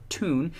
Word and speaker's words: town: research has shown that the Geordie pronunciation of the word town so tune is actually the original pronunciation of the word the tune pronunciation dates back to 500 AD before the great vowel shift which apparently is a